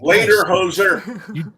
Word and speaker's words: lederhosen: well, we wore lederhosen and everything. Later, hoser. You did it up right. Yeah, That's the only way I could learn how to say it was say later, hoser.